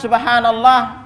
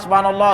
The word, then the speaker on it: Subhanallah: wa nah ini haknya Perhatikan kalimat Subhanallah rata-rata di masyarakat kita itu keliru cara bacanya lihat aja Antum di